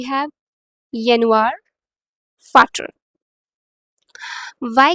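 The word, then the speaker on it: Vater: So this is नॉट वाटर. First of ऑल, फादर को हम German में क्या बोलते हैं, फाटर. इट्स नॉट वाटर, इट्स फाटर. Alright. We have यनवार, फाटर.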